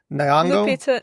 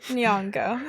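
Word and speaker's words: Nyong'o: is like Leita uh I always say her name wrong. Nango Nongo.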